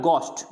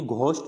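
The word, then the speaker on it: ghost: फिर होता है गोस्ट, यानी घोस्ट नहीं बोलना, घोस्ट यानी है इसके अंदर जो एच है उसका साउंड नहीं आना चाहिए, गोस्ट।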